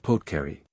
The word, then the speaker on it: apothecary: And their chemist is not a chemist, but an apothecary, pronounced potcary.